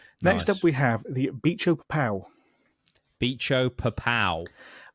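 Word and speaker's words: Bicho-Papão: I'm going to spell this one out because I want to make sure that is how you say that. Yeah. B I C H O B I C. Yeah. Hyphen. P A P A O.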